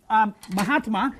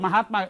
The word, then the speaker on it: Mahatma: So the A here becomes a long A because it combines with the A of the first word and the A of the second word, right?